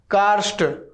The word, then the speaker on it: कार्स्ट: तो देखिए का, फिर आधा र, फिर आधा स, और फिर ट, कार्स्ट, कार्स ट, कार्स्ट, ऐसे बोलिए। तो इस तरीके से आप इसका उच्चारण कर सकते हैं।